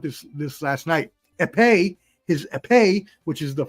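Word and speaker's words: épée: onischenko had his his I learned how to pronounce this this last last night aepe his aepe which is the F the fencing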